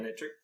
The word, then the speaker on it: Manectric: How do you pronounce that, Manectric or Manectric? Yeah, like magnet and trick, right? Was that it? Manectric. Electric. Magnetric. Yeah. Okay, good. Alright, we'll stick with that. I wasn't sure if it was Manectric because it's got like a main.